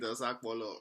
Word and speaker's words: Osakpolo: Osopoto, Osepoto, Osakpolo. You can pronounce it Osakpolo.